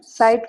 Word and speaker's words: seit: Kannst du mir bitte sagen, seit wann du hier wartest? Seit wann? Why it's coming seit? Seit is Together? because we have E makes I, and one S plus vocal is pronounced Z.